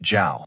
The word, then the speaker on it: Zhao: Zhao with the water radical at the bottom. It is pronounced Zhao.